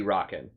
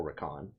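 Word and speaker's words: Rakan: wanted to pick raon I still think that phonetically it should be rocken but they pronounce it all raon civer pretty bad look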